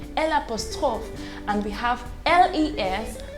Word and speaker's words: le: four definite articles now these articles are le l e is pronounced as le l-a is pronounced as la l with an apostrophe in french you call it el apostroph and we have l-e-s pronounced as le so we have le la